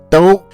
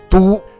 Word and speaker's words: 都: When it is used as an adverb, this character is pronounced as do, which means both, all, even, or already.